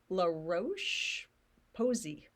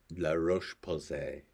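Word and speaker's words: La Roche-Posay: I brought them and I'm going to mispronounce it because we've already established I don't pronounce things well La Roche Posey I don't think that's actually what it's called you're going to pronounce it La Roche Posse nice he did it with a French accent so that's the stuff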